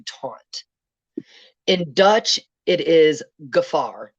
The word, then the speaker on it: gevaar: In Dutch, it is gevaar, not to be confused with Jafar, but gevaar.